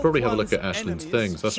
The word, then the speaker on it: Aislinn: That's right, I'm going to say Ashlin cuz like Aelin is not how you pronounce that name. I don't know why they say it that way. I find it really odd. It's an Irish name.